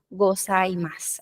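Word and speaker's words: ございます: Exacto como en goasaimas tenemos un suba al final pero no suena la gozaimas así es Y eso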